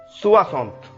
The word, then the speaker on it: soixante: Soixante. Soixante, soixante, soixante means 60. So the pronunciation of 60 in French will be soixante, soixante, soixante.